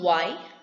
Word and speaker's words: why: The rule states that the letter H, if it comes after the letter W, it is silent. For example, why, where, whether, where.